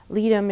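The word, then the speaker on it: Ledum: lot a lot of times apis is indicated litum is another homeopathic remedy it's spelled l-e-d-u-m and it's usual for puncture wounds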